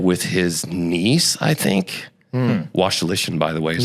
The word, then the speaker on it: Wasylyshyn: Wasylyshyn, by the way, is how you pronounce that.